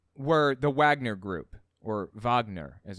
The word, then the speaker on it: Wagner: doing the coup were the Wagner group or Wagner as it's pronounced I think actually led by a Russian